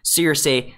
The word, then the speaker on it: Cersei: But I will say that George Martin says it as Cersei, so I am kind of saying it right.